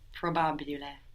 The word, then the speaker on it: probabile: So it's just like the English. If you think of the English, probable, and then you make each of those vowels more Italian sounding, so probabil, and then you pronounce the E that we don't pronounce in English, probabile.